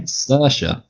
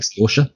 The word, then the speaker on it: Saoirse: Saoirse. There you go. Probably. I feel like there's finer intricacies to how it's pronounced. It's probably pronounced more like Saoirse or something, but we'll just leave it on that.